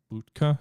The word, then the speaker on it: Bucha: Bucha is how you pronounce it.